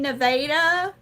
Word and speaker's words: Nevada: If you go and you're like, "Oh, I'm going to go drive through Nevada, Missouri, or go to Nevada to visit my grandma." They're like, "You mean Nevada?" That's just how they say it.